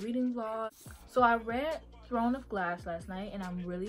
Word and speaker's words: Throne of Glass: But I'm reading Throne of Glass because I keep pronouncing it Thorn of Glass, and it's like by accident, and I don't know why. But I am aware it's called Throne of Glass.